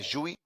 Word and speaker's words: Gui: O próximo é Juí. Juí. Como se escreve Juí? GUI as in the graphical user interface. GUI as in the name Juí. This is how you spell it.